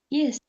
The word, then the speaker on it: Easter: Christmas, and Easter. Easter. Easter. No Christmas, o T é mudo. No Easter, o A é mudo.